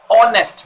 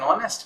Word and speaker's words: honest: So as it is giving you the sound of vowel, honest man, because H is silent. So we say I saw an honest man there.